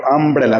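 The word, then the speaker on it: umbrella: এখানে এ হবে ঠিক আবার যদি যদি ইউ দিয়ে শুরু করি দেখো আমব্রেলা ইউ এম বি আর ই ডাবল এল এ আমব্রেলা তাহলে ইউ দিয়ে শুরু হচ্ছে অথচ তার উচ্চারণটা কিন্তু আ আসছে সেজন্য হবে তোমার এন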